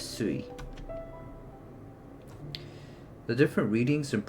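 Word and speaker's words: すい: Uh the reading changes and water is pronounced as sui.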